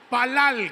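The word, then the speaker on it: פלל: palal Qué palabra es palal con acento en la a la última a la segunda a que significa juzgar literal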